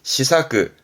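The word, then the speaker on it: 思索: 발음은 시사크, 시사크.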